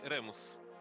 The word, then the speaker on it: Remus: Is it pronounced Remus or Ramos? Harry Potter has me convinced of the latter. I will let him answer that. You just say Remus. That's the Latin pronunciation.